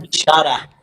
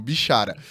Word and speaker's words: Bichara: Falei seu nome certo? Pronunciei corretamente. Não falo Bichará. Bichará. Tá vendo? Eu não pronunciei corretamente. Eles têm um ministério digital. Imagino que não seja o primeiro a errar, mas agora eu não errarei de novo.